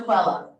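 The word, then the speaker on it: Quelle: e l l e qu Q stands for quella a German word is it that means source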